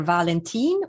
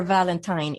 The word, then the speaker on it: Valentin: So my nickname is, and my last name is pronounced either Valentin or Valentine. It is actually the Swedish spelling of the name Valentine, which is why it doesn't have an E on the end.